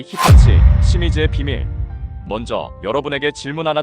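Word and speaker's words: 清水: 우리는이 환자들을 조일립 청수라고 읽지만 일본에서는 아사이 히타치 시미즈라고 발음하죠.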